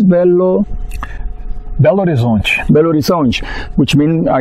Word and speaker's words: Belo Horizonte: How do you say it in Portuguese? Belo Horizonte.